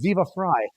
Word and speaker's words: Viva Frei: It's Viva Fry, not Viva Frei. Yes, it is Fry, like Freiheit. Half of my last name phonetically, which means German. Freiheit. Freedom in German.